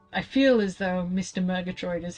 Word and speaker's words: Murgatroyd: Murgatroyd is how it is pronounced, but I'm gonna go with that because I don't know any better.